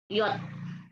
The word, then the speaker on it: J: Kalau huruf yang lainnya A, B, C, D, E, F, sama pengejaannya atau pelafalannya, kecuali ada J, itu dibaca apa? Ada yang tahu? Y. Ya. Yot.